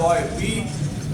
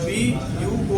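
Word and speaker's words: buoy: जैसे कि बॉय, अब बी यू ओ वाई, जैसे कि बॉय लिखा हुआ है, बॉय, बी यू ओ आई।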